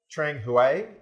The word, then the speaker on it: Trang Hue: yeah right yeah and trang huey is the right pronunciation of your restaurant that's the village you're